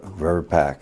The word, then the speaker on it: VRBPAC: me if I don't is it verbach verpac verpac how does it normally pronounce uh we're back um vaccines and related biological